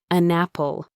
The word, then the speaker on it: an apple: The N sound at the end of an attached itself to the A sound at the beginning of apple. It became one smooth sound.